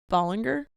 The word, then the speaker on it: Ballinger: Bollinger. It looks like Bollinger. Okay. It looks like B-A-L-L, which people pronounce ball.